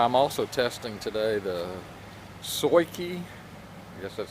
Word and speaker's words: SUAOKI: that is why I'm also testing today the SOI key yes that's how you pronounce it sua okay I it's 150 watt